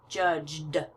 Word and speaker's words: judged: a past tense verb I know it's voiced so it's going to sound like the D sound judged judged and the D